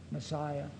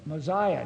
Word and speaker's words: Mosiah: But Joseph Smith did pronounce Messiah for the name of the king in the book of Messiah. He didn't say Mosiah. Now, if you look in the back with your guide for pronunciation, it gives both of them, Messiah and Mosiah. And Joseph used the S one, so the reason we